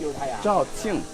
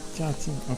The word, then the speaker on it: Zhaoqing: Zhaoqing. Zhaoqing.